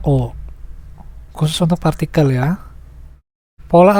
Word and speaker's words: を: Contohnya, shiriaru, partikel ini ditulis dengan o, tetapi dibacanya o.